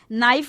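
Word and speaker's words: knife: निकलती टॉक इसी तरह नाइफ में के साइलेंट है उसमें सिर्फ हम नाइफ बोलते हैं इसी तरह स्कूल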